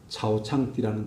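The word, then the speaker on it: 草场地: 그래서 그분 따라 지금 있는 차오창띠라는 동네예요. 중국 발음으로 차오창띠라고 이야기하는데 우리말로 하면 초장지.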